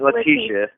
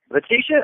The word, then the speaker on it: Leticia: would have said it it's not latisha it is what yeah leticia oh okay all right